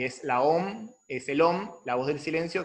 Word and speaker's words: om: Y de hecho el aum, el aum es el OM, la a y la u se pronuncia o y la m eh